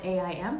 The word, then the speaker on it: Aim: And then the final 3 nights, Om Aim. It's spelled A-I-M, but it sounds like Aim.